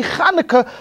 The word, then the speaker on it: Chanukah: and you want yeah that's the way you develop the huh sound and before you know it after three or four Troy's you're going to be able to say Chanukah like the best rabbi in Brooklyn I guarantee